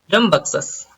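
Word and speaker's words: rambunctious: तो आज का जो हमारा लास्ट वर्ड है वो है रमबक्सस। इसको बोलते हैं रमबक्सस, रमबक्सस। बन नहीं बोलना है, बक्सस बोलना है इसको, बंगसस, रमबक्सस।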